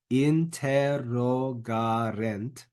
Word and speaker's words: interrogarent: Make sure the accent is put in the right place. Interrogarent. And then lastly, eum.